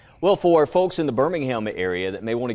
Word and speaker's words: Birmingham: I think there's also a Birmingham Astronomical Society, and you might guess by the pronunciation that's in the UK. But we're Birmingham, not Birmingham.